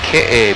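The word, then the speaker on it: Keʻe: beach down below on our right side is ka beach it's spelled ke but pronounced K and that's where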